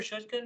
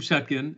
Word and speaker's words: Shatkin: you is is it is it Dr shouldkin am I saying it right um no it's shatkin uh I have I